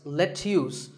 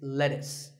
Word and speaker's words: lettuce: I know the spelling looks like it's let's use but it's not it's lettuce and since we're talking